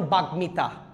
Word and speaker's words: বাগ্মিতা: 3 number বলছি, ম ফলাটা যদি গ, উ, ট, ল, ন, ম এদের সাথে থাকে এই ম ফলাটা উচ্চারণ হবে, যেমন বাগ্মিতা, যুগ্ম আহ্বায়ক, তারপর হচ্ছে উন্মাদ, বাল্মীকি, ঠিক আছে।